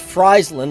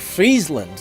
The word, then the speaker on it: Friesland: from what I've heard it's actually not pronounced Friesland like french fries it's more like Friesland like you know it's